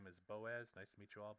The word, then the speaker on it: Boaz: The best way the best way to pronounce it is to say the O and the A apart from each other, not as one big. I think last time I said Boaz. It's Boaz. I'm Dutch, live in the